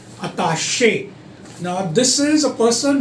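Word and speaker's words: attaché: Then सबसे mispronounce word है अटैची. नाउ इट्स नॉट अटैची. अटैची वो पकड़ने वाली होती है. अताशे, ये वाला वर्ड अताशे.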